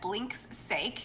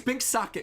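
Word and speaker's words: Binks' Sake: I've always pronounced that Blink's sake, so I'm glad you told me the correct way to say it. Oh, no, it's Bink Sake. So it's like the drink, sake, and then Bink's, being possessive of the sake.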